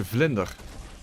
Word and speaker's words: vlinder: Butterfly in Dutch is a vlinder.